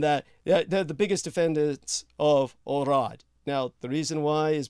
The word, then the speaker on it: Herod: he was known by Herod recognized by Elrod to a more correct pronunciation orad orad who recognized that Christ